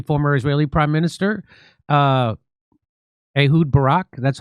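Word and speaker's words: Ehud Barak: They are blackmailing uh uh uh the Israeli former Israeli prime minister uh Ahoud Barack.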